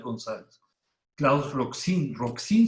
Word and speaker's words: Roxin: 3 gonzález claus roxin roxin se pronuncia así como suena rock si no vayan a pronunciar como alguna vez lo escuché roxanne como si fuera francés